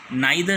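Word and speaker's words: neither: आपको बताया जाए कि इसके दोनों ही जो प्रोनाउंसिएशन है वो ठीक है, क्लियर। जो नाइदर है वो बोलते हैं आपको ब्रिटिश इंग्लिश में, और जो नीदर है वो बोलते हैं अमेरिकन इंग्लिश में, क्लियर।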